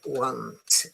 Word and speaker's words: want: very good yes remember the pronunciation is different. Okay, this one is won't as in phone, cone, and bone. And this one the government want the government. This is want want to the government is